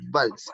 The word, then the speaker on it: Valls: Así tal cual, Valls, tal profesor, cual. vals, como el baile, claro, pero este tiene doble L.